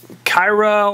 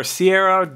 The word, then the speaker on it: Caiera: Here we have Kyra or Caiera, depending on how you want to pronounce that name, but we're not going to worry about it too much here.